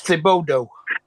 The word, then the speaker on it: Thibodeaux: Yeah, EAUX is a particular pronunciation in French. The bodig. Yeah, you got it. I know you have it. It's Thibodeau.